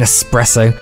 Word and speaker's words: espresso: no ing in skeleton no X in espresso God's Willy they bowed